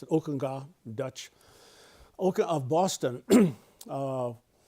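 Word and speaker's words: Ockenga: guy named Harold Okena or it looked like Okena but he pronounced it Okunga Dutch Oka of Boston.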